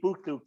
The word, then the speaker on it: BoKlok: They're called BOKLOK, Bukluk they pronounce it. So BOKLOK.